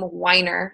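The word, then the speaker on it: Wiener: SB 822 is by, I think he pronounces his name Weiner, Senator Weiner.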